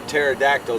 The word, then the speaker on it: pterodactyl: Why can't you hear a pterodactyl going to the bathroom? I don't know. Why? Because the P is silent.